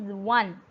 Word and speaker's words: one: It is not won, it is one. It is exactly the same pronunciation as the number 1.